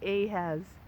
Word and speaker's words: Ahaz: I was reading with a guy named Ahaz, rhymes with Zazoo Plazz, prophet, I guess, from the Old Testament.